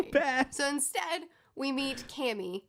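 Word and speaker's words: Camie: so instead we meet cammy oh kami i called her cammy the whole time i was reading but now that i'm looking at this pronunciation guide i'm wrong oh they sent her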